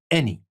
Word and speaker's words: any: in words like any any is pronounced like e any we can have it